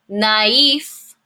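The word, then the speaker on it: naïf: from this e sound so it tells me that right here in the middle between the A and the I I need to make a new um a new syllable naif naif naive N means brand new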